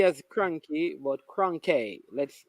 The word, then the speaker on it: Kronke: Not Cranky as Cranky, but Kronke. Let's pronounce it right.